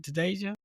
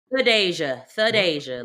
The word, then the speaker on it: Thadeshia: Tedasia, right? Theasia.